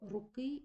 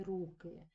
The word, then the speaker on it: руки: таки утворюватися різні форми Ну от наприклад слово руки і руки із наголосом на другому складі ми з вами розуміємо це Що це форма іменника жіночого роду однини родового відмінка А якщо ми з вами поставимо наголос на першому складі руки тоді ми з вами розуміємо що перед нами форма називного відмінка множини іменника руки і крім цього ми